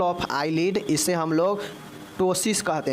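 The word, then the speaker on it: ptosis: eyelid इसे हम लोग टसिस कहते हैं क्या कहते हैं पी जो है साइलेंट होगा टसिस जो है हम इसको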